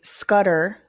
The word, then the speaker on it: Scudder: So Brian Steele has cited a case, Scudder, even though he pronounced it Scuttle for some reason, that apparently in Georgia,